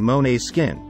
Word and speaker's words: Måneskin: out if you enjoy men's skin a Danish band with the pronunciation Monet's skin and to add to